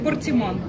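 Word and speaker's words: Portimão: Ну вот есть город пишется Он портимао но на а или на до на а на до там такая Тильда а Тильда дада да да и он считается как портиман мы тут меряемся значит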